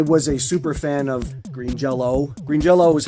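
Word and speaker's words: Green Jellÿ: So, it's pronounced Green Jello.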